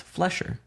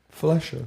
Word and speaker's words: Flesher: It's Flesher. time. Flesher. It's the look, I'm just so unique and so individualized that I had to switch it up. It's not Fletcher, it's Flesher. Fletcher. Like the skin.